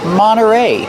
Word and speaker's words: Monterey: Monterey Peninsula Yacht Club Monterey you have NT you don't hear the T when it's between vowels Monterey you can say Monterey but you'll usually hear Monterey Monterey Peninsula Yacht Club what